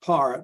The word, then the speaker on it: Pare: it's called It's pronounced you'll hear the name Parr but it's spelled p-a-r-e like pear par now